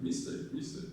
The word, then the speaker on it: mistake: So the stress is on take, I made a mistake.